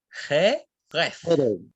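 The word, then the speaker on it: חרב: Espada en hebreo se dice jeref, ¿cierto? Jeref, ¿ya? O jeref, ya se les cuesta pronunciar la resh.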